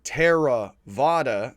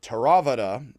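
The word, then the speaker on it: Theravāda: learning for buddhist philosophy you would put equal emphasis on every syllable so instead of saying tara vada you would say teravata and so i put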